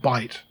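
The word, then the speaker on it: Bight: called the great australian bite now bite is spelled differently it's b-i-g-h-t it's g it's a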